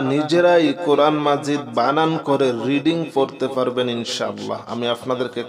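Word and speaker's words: ر: রাখবেন আউজুবিল্লাহি মিনাশ শাইতানির রাজিম বিসমিল্লাহির রাহমানির রাহিম আলিফ বা তাছা জিম হা খ অনেকে এটা খা বলেন এটা হবে কি খ দাল জাল র অনেকে বলেন রা এটা হবে র ঠিক আছে র জা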